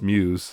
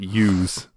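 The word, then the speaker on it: μ's: Like, do you even know the first thing about, like, Chika doesn't know how to pronounce Muse. She calls it Use. Yeah. Because she sees a U, right?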